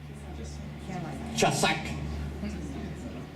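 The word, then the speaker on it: חזק: No, realmente se pronuncia más o menos así. No hay chazón sin chazak. No hay chazón sin chazak. Bueno, los judíos parece que viene más para adentro, no solamente por la boca así, sino por adentro, no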